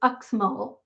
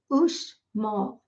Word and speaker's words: Uxmal: And looking at it, you would think it would be pronounced Uxmal, but it's not. It's Uxmal.